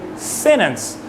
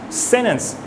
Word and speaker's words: sentence: in the natural way they don't really stress the letter T they pronounce it sentence sentence not really sentence that's not to say pronouncing sentence is wrong but sentence is how typically people pronounce it same thing with international